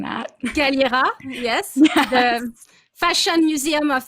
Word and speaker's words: Galliera: I'm so bad at pronouncing that. Galliera, yes.